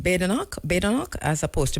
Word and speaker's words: Badenoch: All right, how did Andrew say I should pronounce her name? Badenoch, as opposed to Badenoch.